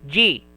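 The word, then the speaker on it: じ: This one, she and 1010, it is pronounced as ji.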